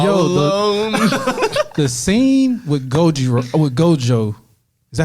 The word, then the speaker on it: Gojo: The scene with Gojo, is that how you say his name? Gojiro. I got you right here. Hold on. Gojo. So it is Gojo.